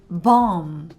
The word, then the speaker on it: bomb: understand this dumb sound, when M and B are together, we usually don't pronounce B at the end. For example, thumb or crumb, bomb. In all of these words, B is silent.